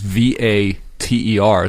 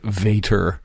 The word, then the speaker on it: Vater: Most people know how to spell goose, but Fata is V-A-T-E-R because we're pronouncing it German, but the spelling is with a V, just Correct.